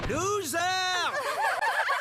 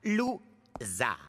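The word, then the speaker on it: Lou Zarr: discuter je suis monsieur loser mon nom se prononce ZAR lou ZAR et ça c'est un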